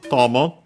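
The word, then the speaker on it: 友: First and foremost, we have this tommoi which technically uh comes from tomo uh accent on the first moral which means friend, companion, comrade, pal uh and so on.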